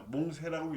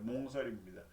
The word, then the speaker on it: 몽설: 그렇게 하고 다음 한자는 몽설입니다. 몽세라고 읽으면 안 돼요. 몽설입니다.